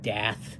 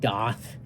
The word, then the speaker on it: Daath: You know, he plays in an awesome band called Dath now. Or maybe it's pronounced Doth. It's spelled Daath.